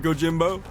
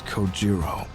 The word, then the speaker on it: Kojiro: Get It Go Jimbo the way he deliberately mispronounces my name really bothers me it bothers me so much that the anger boiling inside me gives me the strength to open my mouth once more it's coiro sure bro sleep tight